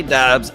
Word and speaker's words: Doubs: I do have Romeo Doobes on my fantasy team. Some people say doubs. I say doobes. A lot of people say doubs. I pronounce it as it's spelled.